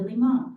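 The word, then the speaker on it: León: I was like wow that is my name and I should pronounce it that way let me put the accent back over the O and in Malta that's who I became Leon I also used to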